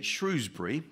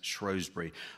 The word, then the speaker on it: Shrewsbury: Opinions about how to pronounce the town's name differ in the north of the county. They tend to say Shrewsbury. To the south, it's known as Shrewsbury.